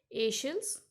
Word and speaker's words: Aeschylus: These names are a bit tricky one, so listen the pronunciation carefully. Aeschylus, Aeneas, Sophocles, Euripides.